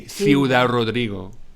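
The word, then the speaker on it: Ciudad Rodrigo: do you say this because when you see see you dad rodrigo you go it can't be said like that so you taught me how to say this so i say theodore rodrigo in the show because you told me and that was like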